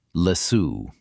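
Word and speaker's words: Læsø: The island is called Lasso. Say it like Lasso.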